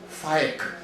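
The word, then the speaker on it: Faiq: Pakistani name, it's pronounced Faik. Well, who the hell knows how to pronounce Faik? It looks like the word fake.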